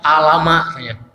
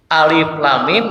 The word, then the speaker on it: Alif Lam Mim: lam dan mim nah cara membaca ayat ini itu dibaca nama hurufnya ada saya punya orang kenalan bacanya alamak Alif Lam Mim itu nama huruf dibacanya hurufnya jadi Alif